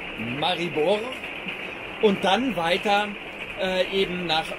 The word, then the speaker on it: Maribor: Das sind drei Tage zusammengeführt und das ist die Strecke von Radebeul rüber nach Maribor oder ausgesprochen Maribor und dann weiter eben nach Maliluschin.